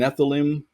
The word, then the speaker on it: Nephilim: So it's Nephthil if it's singular, and Nephilim if it's plural. Okay. Nephilim was a hot topic.